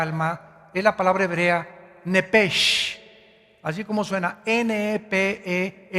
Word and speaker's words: Nepesh: Esa palabra alma es la palabra hebrea Nepesh, así como suena, N-E-P-E-S-H, Nepesh.